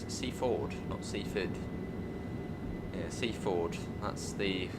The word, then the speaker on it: Seaford: This is Seafford. Ford.